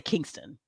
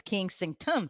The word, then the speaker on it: Kensington: I always say Kingston. That's not how you say it, Special K Thoughts, right? It's Kensington Palace.